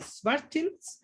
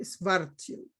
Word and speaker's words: Schwarzschild: Entonces partimos con la métrica de Schwarzschild. Digo Schwarzschild y no Schwarzschild porque es de origen alemán, entonces ellos pronuncian la W como B.